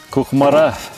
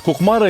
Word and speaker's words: Кукмара: А куда вот ударение поставить? Кукмара или кукмара? Кукмаринцы говорит кукмара. А рядом, который проживает, вот, татар, чуваш, они говорят кукмара. Ясно. Во всех тюркских словах, по сути дела, ударение должно быть на последний слог.